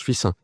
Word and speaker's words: Fixin: épouse j'étais de fil ça s'écrit Fixin mais ça se prononce fissin donc j'ai grandi enfin